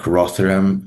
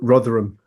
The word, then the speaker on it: Rotherham: He also um dropped the prosecution of one of the major gangs, I think, Rotheram. Uh I don't know if I pronounced that correctly. Rotherham.